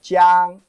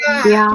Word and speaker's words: 江: There's a big river, very big river called 江. Pronounce that with me. 江. 江. 江. Jiang, like a jack. This is a jack, right? Jack. Jiang. Jiang.